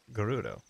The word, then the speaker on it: Gerudo: the game like yeah there he goes it's pronounced gerudo it's true to me it's all french to